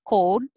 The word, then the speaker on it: cold: code so the american oh it's not just cold but code o code 31 cold you have